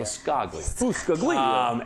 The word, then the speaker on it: Biscaglia: Biscaglia.